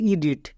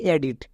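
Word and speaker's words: edit: একে আমরা কি বলবো একে 99% লোক ভুল উচ্চারণ করে একে বলে ই ডিড বাট এর একচুয়ালি উচ্চারণ হবে এডিট কেন এখানে দেখো ই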